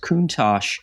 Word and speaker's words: Countach: But anyway, he was integral in the design of the Miura in the late 60s, and I believe it's pronounced Countach.